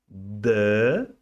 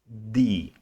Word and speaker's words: the: isso na sua cabeça não existe essa pronúncia de D D é palavrinha do português em inglês nós pronunciamos the quando a palavra que